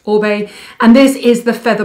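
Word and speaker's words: Oribe: be a lot a lot of people say Arriba but it's actually pronounced obey and this is the feather bomb weightless styler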